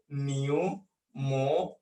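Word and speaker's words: pneumonia: বানানটা শুরু হয় পি দিয়ে। পিটা প্রোনাউন্সিয়েশন বা উচ্চারণে আমরা আনি না, পি কে আমরা বাদ দিয়ে দেই, তাহলে নিউমোনিয়া প্রোনাউন্সিয়েশনটা আমাদের জানতে হবে।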